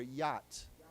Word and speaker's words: yacht: We don't pronounce the CH. It's just Y-A-T. So why don't we say together, yacht.